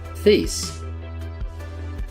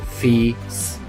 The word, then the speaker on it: fis: So the first part would be pronounced like the first part of feelings. So we have fi. And then we just add a short S at the end. So, fis.